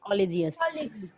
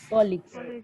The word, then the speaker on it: colleague: Oh, not collegious. Colleagues.